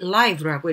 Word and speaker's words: live: 그래서 주의해야 될 단어로는 live 있었는데 이 단어가 형용사로 했을 때는 live라고 읽어야 되고요. 동사는 live겠죠. 근데 이 지문상에서는 live라고 읽었었어야 됐기 때문에 주의를 기울였었어야 되는 단어였었고요.